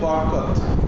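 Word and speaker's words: بركة: এটার নাম হচ্ছে বরকত। আরবি উচ্চারণ হচ্ছে বারাকা।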